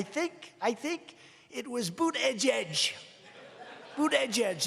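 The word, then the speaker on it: Buttigieg: I think it was boot Edge Edge boot Edge Edge they said think of it as Boot and then Edge Edge cuz nobody can pronounce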